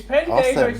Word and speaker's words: pendejo: Is Pendejo seriously spelled Good man. Pendejo? No, it's yes, but it's pronounced pendejo.